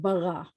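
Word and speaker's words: בָּרָא: um so um we the aleph at the end of word is silent so we have beret and we have bara and then we get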